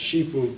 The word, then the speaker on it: Sifu: to answer the question seu means or sometimes pronounced Shifu too means like Father teacher